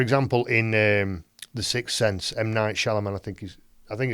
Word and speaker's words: M. Night Shyamalan: And so, for example, in The Sixth Sense, M. Night Shyamalan, I think it's pronounced like that.